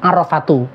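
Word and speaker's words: عرفة: Tapi yang jelas hadisnya itu bacanya Al-Hajju Arafatu.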